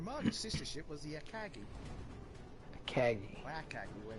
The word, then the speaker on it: Akagi: The Marga's sister ship was the Akagi. Akagi. Or Akagi, the way we pronounce it.